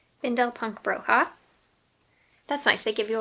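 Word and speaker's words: Bindle Punk Bruja: So the first one is Bundle Punk Bruja by Desideria Meza. How do you pronounce it? Bindel Punk Bruja.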